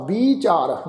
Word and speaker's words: विचार: विचार बब्बे नूं बिहारी दे नाल उच्चारण करांगे, इनू सिहारी नाल उच्चारण नहीं करना, बिहारी नाल विचार।